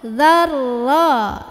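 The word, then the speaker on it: ذرة: Mithqala dzarra. Dzal gigit, ujung lidah ketemu ujung gigi, tekan ke ro. Dzarra. Jadi jangan za-nya dipanjangin. Za-nya pendek, tekan ke ro.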